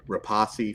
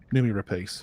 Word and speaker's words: Rapace: I really like Nomi Rapace. Really like her a lot, or Rapace, whatever. However you I forget how to say it every time, and I'm